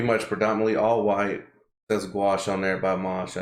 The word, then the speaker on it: gouache: by this is called the gouache by mosh i know it it rhymes so slight bar is